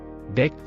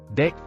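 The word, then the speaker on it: debt: and letter is island ಡೆಕ್ ಸಾಲ cell and letter B ಉಚ್ಚಾರಣೆಯಾಗುವುದಿಲ್ಲ ಡೆಕ್ plumber ಕೊಳಾಯಿ repair ಮಾಡುವ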